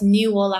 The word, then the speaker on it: NiuOla: Medicine um now it's newa health and that's spelled NIU new like the young coconut and hola o l a um so this